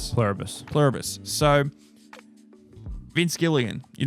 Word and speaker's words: Pluribus: So, how do you pronounce it again? Plurabus. Pluribus.